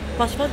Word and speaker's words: Paç fat: How do you say good luck in your language? Pashfat? Pashfat geht auch, ja. Pashfat? Yes. Pashfat.